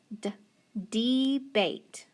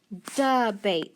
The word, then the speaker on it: debate: to be long so d d bait debate does that sound right no it's actually that swa sound it's duh bait so we're gonna make